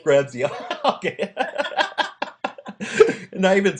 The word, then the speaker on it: Gramzay: Yeah, I butchered it. That's close. It's Gramzay. Gramzay.